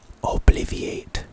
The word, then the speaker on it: obliviate: Crouch casting it obliviate is our next spell obliviate is the pronunciation it's a charm and its purpose is